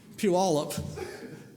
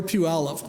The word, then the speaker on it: Puyallup: I think it took me a few years to learn Puyallup or Puyallup, one or the other.